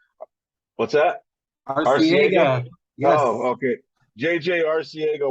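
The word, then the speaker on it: Arcega: Argega Whiteside. I can't even pronounce it. What's that? Arciega.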